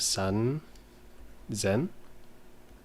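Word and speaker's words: 三千: the three here so 1000 would be sen but then when you have the three in front of it sun the sun becomes zen now i'm pretty sure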